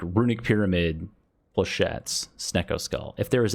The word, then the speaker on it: flechettes: I know how to pronounce this word. I meme. It's flechettes and skewer.